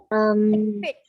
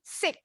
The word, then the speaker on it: thick: Lawan kata thin bacanya thick. Thick. Yes, hampir mirip. Hati-hati nggak boleh bunyinya S. Kalau S bunyinya jadi sick. Sakit, beda jauh.